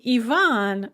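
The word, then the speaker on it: Иван: starts with a ya but the name ivan does not it just starts with an e sound russian like english also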